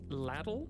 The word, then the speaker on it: LDL: Howdy LDL, pronounced ladle? Ladle? Ladle?